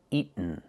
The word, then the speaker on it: eaten: He should never have eaten that whole cake. Pronunciation eaten. You can say eaten or eaten. Make the stop t and fall to the end.